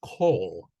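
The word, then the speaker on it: כל: So that's not kal, it's kol.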